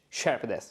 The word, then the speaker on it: shepherdess: But Sean from Ireland wrote a comment under the lesson, so he wrote three syllables, shepherdess.